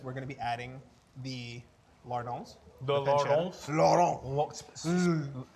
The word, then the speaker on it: lardons: And then once we're at 90%, what we're gonna do is we're gonna be adding the lardons. The lardons? Lardons. Spell it.